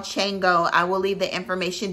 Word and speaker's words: Shango: It's spelled Shango, but it's pronounced Chango.